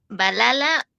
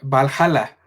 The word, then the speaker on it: Valhalla: este cerramos, solo que no sé cómo se pronuncia el título, entonces corrígeme. Em, Balala, Baliala, tú dime, es Ah, Valhala. ya, Valhalla. Valhalla.